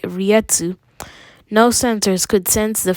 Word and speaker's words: reiatsu: know how to say riatsu i used to say it right to or or rikex that's